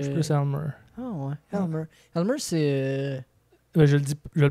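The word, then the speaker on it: Aylmer: Elmer. Elmer, c'est. Ben, je le prononce peut-être mal.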